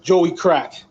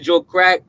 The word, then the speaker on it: Joey Crack: You gotta remember, you gotta say it correctly. The '90s was Joey Crack. Joey Crack, yeah. You know what I'm saying? Joey Crack. Yeah. If you come out being Joe Crack, getting in their grills